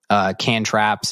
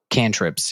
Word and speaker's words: cantrips: Cantraps is like Abracadaniel, Lady Rainicorn, Magic Man. Cantrips? Cantrips, yeah. It's spelled why cantraps.